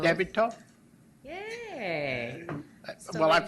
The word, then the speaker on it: Toth: How come you didn't tell him how to pronounce my last name? No. I'm Debbie Toth. Debbie Toth?